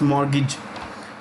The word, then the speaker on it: mortgage: India's largest mortgage, the T is silent. D is silent, it's mortgage.